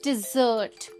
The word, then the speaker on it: desert: अगले दो वर्ड्स हैं डेजर्ट वर्सेस डिजर्ट। यहाँ पर प्रोनाउंसिएशन में थोड़ा सा डिफरेंस है, ध्यान से सुनना। DESERT इसका प्रोनाउंसिएशन है डेजर्ट और DESSERT इस वर्ड का प्रोनाउंसिएशन है डिजर्ट।